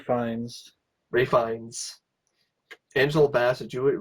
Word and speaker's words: Fiennes: Pro Star Ray Fiennes, Fines. Fiennes, another name I can't Ray pronounce. Fines.